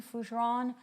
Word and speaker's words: Fougeron: My name is fujeron.